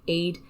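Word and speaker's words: Aed: something along those lines it depends on your irish pronunciation is that two words two words a e d space a l l a n so allen is the same but it's along the lines of aid aid or aid allen i think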